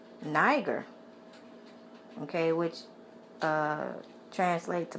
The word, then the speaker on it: Niger: also was being called Niger okay which uh translate to Black that's where you get the word okay it's uh Niger n i g e r in the Bible it's pronounced neger okay um being called